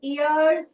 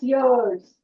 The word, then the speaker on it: years: Don't say ears. It's wrong pronunciation. It's year. Why has the year sound? So, it's years.